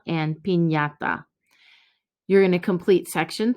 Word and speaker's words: piñata: The pronunciation of Nye is similar to the NY in the English word canyon, and we see it in the words mañana and piñata.